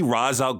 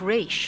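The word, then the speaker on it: Ra's: Here we see Razul expositing out loud that he regrets his recent actions. Though father's name was pronounced re, not Raz. Ah, right. I grew up saying Roz, but I know some people are gonna get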